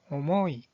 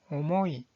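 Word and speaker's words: 重い: 자, 무겁다라는 뜻을 가지고 있는 이 한자의 발음은 오모이, 오모이.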